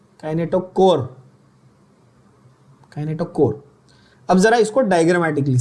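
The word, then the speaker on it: kinetochore: Word क्या है, spell proper pronounce, क्या बोल रहा है, काइनेटोकोर, काइनेटोचोर नहीं, काइनेटोकोर, काइनेटोकोर।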